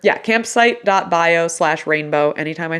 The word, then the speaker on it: Ranebo: more time absolutely yeah so my name is Rainbow it's spelled r-a-n-e-b-o um I just released my website